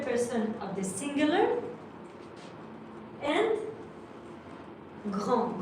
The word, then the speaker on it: grand: And grand, grand is tall. Grand is with a D at the end. But actually we write it, but we do not pronounce it.